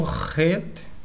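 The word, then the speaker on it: ח: Nós temos aqui o Het, né? Tem o som de H fortemente aspirado, semelhante à pronúncia do J em espanhol, como no substantivo próprio Júlio.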